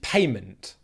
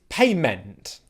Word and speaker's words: payment: a payment okay payment what most people would say is payment payment payment okay can you hear the difference payment payment it's a subtle difference but it's there and it's very important to get it right payment word number two